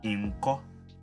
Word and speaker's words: inko: In this case, we use a double N and pronounce it as inko.